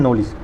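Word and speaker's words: knowledge: K से होता है नॉलेज, NO क्योंकि इसमें साइलेंट होता है।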